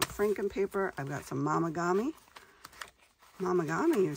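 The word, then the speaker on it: Momigami: I've got some Mamagami. Mamagami, you say? What is that? Well, you can look it up. It's spelled like Mom. Mom. M-O-M. Yep, that's how it's spelled.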